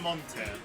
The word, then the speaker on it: Montier: Okay, how do you say your tag? It's just Monte. Okay. It's exactly how it's written.